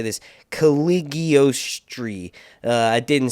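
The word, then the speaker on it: Cagliostro: try to say this, Caligostri. I didn't spell that right, so I'm trying to think of how it's actually pronounced on the TV show, which is Caligostri.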